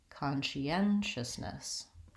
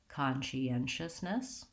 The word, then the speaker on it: conscientiousness: alarmed it is difficult I would start with the stressed syllable and build from there so I do n anxious anxiousness she n justice conscientiousness you can also go